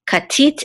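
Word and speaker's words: כָּתִית: Okay, katit, and this is the accent or trope mark, and so we know that the accent is on the last syllable, tit, katit.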